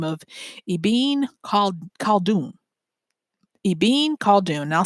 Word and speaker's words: Ibn Khaldun: by the name of Ibn Khaldun. Ibn Khaldun. And I'll spell that for you. IBN for Ibn Khaldun, Khaldun. And I know I'm not pronouncing that hard K like Khaldun, but you get the